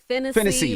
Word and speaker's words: Phinisee: Phinisee, like Tennessee.